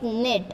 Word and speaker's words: knit: So here k is silent, so we should take from n. In it knit.